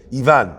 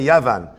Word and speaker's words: Ivan: I know that's his French name. Ivan, right? Okay. I want to make sure I don't say Yavan.